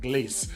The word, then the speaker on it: Glace: Just pronounce it with a French accent, Glace.